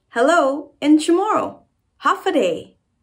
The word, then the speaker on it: Håfa adai: Hafaday. Say it again. Hafaday.